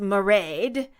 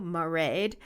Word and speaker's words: Mairead: Anyway, the name married is pronounced Mairead. Just a heads up." Okay, now we know, Mairead in Scotland.